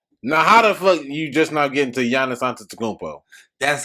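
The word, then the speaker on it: Giannis Antetokounmpo: you just now get into yana santa tacombo that's how you say his name he is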